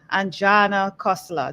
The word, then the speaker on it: Anjana Khosla: I have with me a beautiful woman, Anjana Khosla. Did I pronounce that correctly? You did. Thank you. I Thank did you. well. A tick for me, Anjana Khosla.